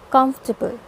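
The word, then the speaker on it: comfortable: ठीक है, जिसमें कि ज़्यादा स्ट्रेस मतलब बहुत ज़्यादा जो फोकस किया जाता है, ठीक है, वो पहले सिलेबल यानी पहले पार्ट पे किया जाता है. मतलब आपको कम्फ पे ज़्यादा जोर देना है एंड ये 3 पार्ट्स हैं, 4 पार्ट्स नहीं हैं.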